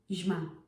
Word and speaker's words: zima: ż zielony zima We can't have the short sound. It just doesn't work. It's really hard to pronounce. zima zima No, it's zima zielony It's not zielony.